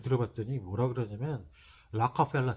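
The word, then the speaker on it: Rockefeller: 방법 좀 알려주라 했더니, 록펠러 센터가 어디니? 이게 물어보더라고요. 뭔, 도대체 얘네들은 뭐라고 그러나 하고 잘 들어봤더니 뭐라 그러냐면 라카펠라 센터 그래요. 알 발음이잖아요. 라카펠라 센터. 록펠러하고 라카펠러하고 완전 다르잖아요.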